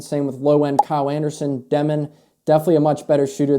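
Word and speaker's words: Demin: Unfortunately, his last name is pronounced Demen, not Demon.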